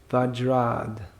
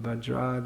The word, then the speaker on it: Vajrad: Uttara Rama Charita, if you want to say all the Sanskrit syllables. Vajrad, you can look up Vajrad api koturani kusamapi komalam.